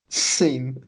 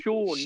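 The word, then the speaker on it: Seán: Scene. But that's why my name has an accent, and you're the whole time you're like, it's because you're so cultured. It's there, so it's pronounced Sean, not Scene.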